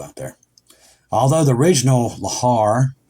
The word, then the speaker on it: lahar: there although the original lahar I think that's how you say it evacuation drill is held